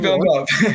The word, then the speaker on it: Villeneuve: It's Denis Villeneuve. That pronunciation is not how I'm saying the spelling, but okay, I'll take your word for it.